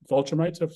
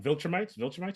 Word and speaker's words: Viltrumite: introduce most of the big bad of the Vulturemites. Sorry, what I always pronounce it wrong. Viltrumites?